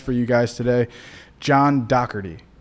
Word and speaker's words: Dougherty: I got a special guest for you guys today, John Doerty. Right. Correct. Because everybody says Dowardy. Yeah, you got the pronunciation correct.